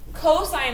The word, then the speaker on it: cosine: and a hypotenuse cosine cosine of theta it's abbreviated cos still pronounced cosine theta and the cosine